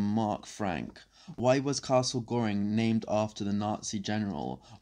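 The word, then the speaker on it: Göring: Reich Marshal Hermann Goring, it's spelled Goring but with an umlaut, so it is pronounced Goring, was born in the,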